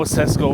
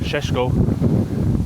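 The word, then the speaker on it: Šeško: I know Cesco or Shesho as he as it's pronounced correctly.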